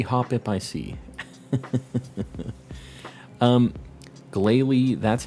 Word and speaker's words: Glalie: shiny hunt every hop hip I see um Glalie that's how it's pronounced I know I just I never said